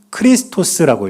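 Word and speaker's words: Χριστός: 그런데 저 단어가 어떤 뜻이냐면 첫 번째 있는 단어는 예수스라고 읽습니다. 뜻은 예수란 뜻이에요. 두 번째 단어는 크리스토스라고 읽어요.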